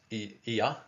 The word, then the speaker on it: IA: blue Syrian being called IA pronounced EA. Okay, I write it as EA, but it's kind of pronounced E A H.